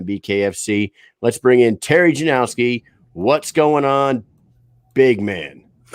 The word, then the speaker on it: Janoski: Let's bring in Terry Janoski. What's going on, big man? How's it going, man? Hey. So my last name's actually Janoski. No Janoski. No W. Janoski.